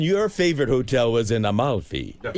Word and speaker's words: Amalfi: And your favorite hotel was in Amalfi. Yes. So you were there. We were there too. Is there an extra L in there? Al Maui? Yeah. Amalfi. Amalfi.